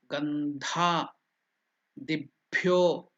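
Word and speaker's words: gandhādibhyo: Gandha, dibhyo. Again, Mahaprana is there. Dhi, gandha, and dibhyo. Di is not Mahaprana. Di is Alpaprana. Di. Bhyo is Mahaprana. Dha is Mahaprana.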